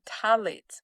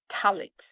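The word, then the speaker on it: phthalates: I'm going to spell this word because it sounds different than how it is spelled. So, tallet is spelled P H T H A L A T E S. That's talics.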